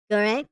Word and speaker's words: Gure: It's pronounced Gure, right?